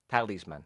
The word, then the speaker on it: talisman: yes that is man you say in english it's the opposite is the first syllable tali's man talisman tell his man now what is a